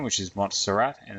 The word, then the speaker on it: Montserrat: whoops primal food okay this is using a font called mots pronounced montserrat you might just be happy